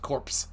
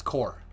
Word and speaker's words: corps: he yes i miss i mispronounced corpse it's core core yeah like the green lantern core and the george said